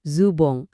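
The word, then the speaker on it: ズボン: Jadi, bunyinya kedengaran mirip-mirip zubong atau zubong.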